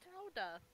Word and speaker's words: Gouda: It's pronounced Howda.